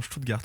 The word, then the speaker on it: Stuttgart: bien bonne prononciation, Stuttgart, oui.